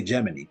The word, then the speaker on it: Gemini: like that oh they said geminy they say geminy instead of Gemini it's spelled like Gemini but they say geminy and